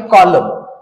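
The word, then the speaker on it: column: ठेवायचा आहे त्याच्यानंतर आहे कॉलम आणि कॉलम हा शब्द वाचन करत असताना याच्यामध्ये कॉलम या पद्धतीने आपलला याच वाचन करायच आहे आणि यातला एन हा लेटर जो आहे आपलला सायलेंटेड ठेवायचा आहे लक्षात घ्या आणि त्याच्यानंतर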